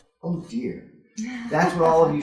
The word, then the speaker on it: ODIHR: Institutions and Human Rights, or, amusingly, ODIHR, pronounced, oh dear.